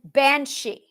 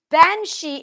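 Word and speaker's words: bean sí: she as in bansi bansi is spelled b e a n SI I there's a space ban B A an is woman this is going to get interesting there's a space it is not b a n s he I could slap some people that's Anglo-Saxon it's not that it's b a an that's van yeah that's right that's van Bea an is van in Old Irish that's van space SI Max a mark over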